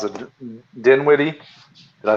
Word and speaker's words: Dinwiddie: I don't even know how to pronounce it. Dinwiddie? Did I say it right? Yeah, Dinwiddie.